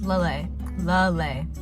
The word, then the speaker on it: Lelei: mean one person on how to pronounce that but it's lay lay don't do don't do